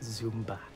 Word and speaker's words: Zumba: It's really like, it's pronounced Zumba, okay?